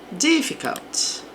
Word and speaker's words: difficult: Difficult. Aqui, sílaba forte aqui no D.